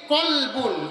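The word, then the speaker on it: كلب: তো কফ লাম বা, এই কলবুন উচ্চারণ হচ্ছে কলবুন, এর মানে হচ্ছে অন্তর, দিল, হার্ট।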